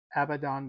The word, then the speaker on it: Abaddon: And for that, we are going to use Citadel Abaddon Black, which is, I believe, the right way to pronounce that. I think I've been pronouncing it wrong.